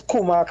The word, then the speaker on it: Kumaka: Now the pronunciation is Kumaka. Although it is pronounced Kumak, it is spelled Kumaka. It's Kumak.